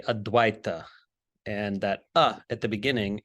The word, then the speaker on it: Advaita: So the word non-duality is formed on the basis of the Sanskrit term Advaita, commonly mispronounced Advaita, but it's actually Advaita.